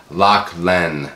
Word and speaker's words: Lachlan: By the way, it's pronounced Lachlan.